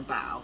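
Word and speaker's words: Bao: had a similar name, but they pronounced it Bo. So when I saw the spelling, in my mind is Bo, but she pronounces her Bow.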